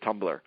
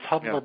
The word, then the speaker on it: Tumblr: And it's spelled without the E.